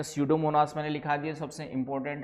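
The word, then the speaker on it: Pseudomonas: एक दो तो नाम मुझे पता है क्लास्टीडियम क्लास्टीडियम सडोमोनास पी एस यू P silent है सडोमोनास कहते हैं।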